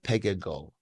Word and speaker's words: Pegah Gol: you I want to invite and welcome uh Pega go pronounced correctly yes it is correct thank you so